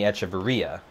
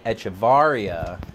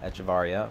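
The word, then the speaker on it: Hechavarría: just we had all been calling him Adeiny Echeverria, and then and then there was a little blip where it was like, oh, actually it's Adeiny Echevarria, so everybody was like, okay, well, we'll call him Echevarria because that's how you're supposed to pronounce his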